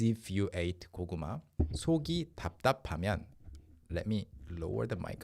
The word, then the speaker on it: 답답: ventilated well, everything is 답답해. Somebody doesn't express their emotions clearly, 답답해. Everything's just 답답해. 답답. Even the pronunciation is 답답 because you're not like linking it to the next vowel or anything.